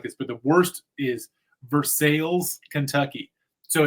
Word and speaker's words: Versailles: Spelled exactly like Versailles. And they're like, we ain't doing this French pronunciation crap.